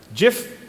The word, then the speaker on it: GIF: GIF or GIF? GIF. GIF. GIF, because that's how the creator pronounced it.